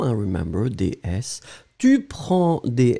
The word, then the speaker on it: prends: So, je prends, and remember, DS, Tu prends des S, il, elle prend des. We pronounce them exactly the same way, but still, keep in mind that we should definitely write them like that.